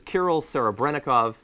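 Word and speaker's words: Kirill Serebrennikov: locations have been raided um now this is kol Sarah brov he's both can Award winner I'm not familiar that much with the did I pronounce that correctly yeah yeah okay I don't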